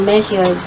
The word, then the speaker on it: measured: itong measure ay magiging measured Okay measured measured okay or measured Okay measured or measured Okay d yung dulo niya measured Okay pero kung nag-umpisa